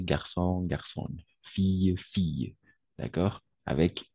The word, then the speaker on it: fille: Au niveau de la prononciation, on va prononcer garçon, garçon, fille, fille. D'accord? Avec I. I, c'est un peu exagéré, mais la prononciation est I, d'accord? I, double L, on va prononcer I, comme fille, d'accord?